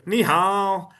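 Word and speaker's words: 你好: They go over they go nihow. If you don't know that's actually the proper way to say hello and it's pronunciation is key. You can learn how to you could learn that nihow is hello but if you don't go nihow you don't have the proper pronunciation. It won't sound right.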